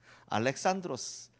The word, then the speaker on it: 알렉산드로스: 알렉산드로스 그쪽 발음이고 알렉산더 우리 발음인데요.